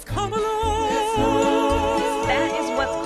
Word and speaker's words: Kamala: And don't you dare pronounce her name Kamala. It's Kamala.